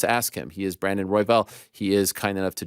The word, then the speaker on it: Royval: How do you pronounce your last name? It's Royval. Royval.